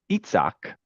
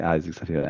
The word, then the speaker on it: Isaac: It's spelled Isaac, Isaac, and we all like, some people say Isaac. I enjoy saying it appropriately because I know you say Itzhak. Isaac, if you're taking the French. Isaac?